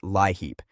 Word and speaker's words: LIHEAP: One of the biggest helpers right now is LEAP, pronounced LIHEAP.